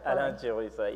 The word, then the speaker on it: Alain Chirwisa: Next to Sipho is Alain Chirwisa, and I'm going to say it, I just said it wrong, didn't I? Say it right. Alain Chirwisa, yeah, yes. that's right.